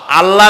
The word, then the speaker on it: আল্লাহ: কি গুণাবলীতে বিশ্বাস আল্লাহর নাম আল্লাহ বলেন তো আল্লাহ আল্লাহ নয় কিন্তু আল্লাহ হচ্ছে অশুদ্ধ শুদ্ধ হচ্ছে